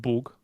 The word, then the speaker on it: Bug: But there is also a river called Bug, spelt with the open U and not the O with the line.